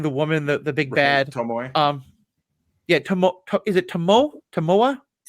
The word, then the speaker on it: Tomoe: Tomoe. Yeah, is it Tomoe? Tomoe? Tomoe. Tomoe? Okay. It's 3 syllables.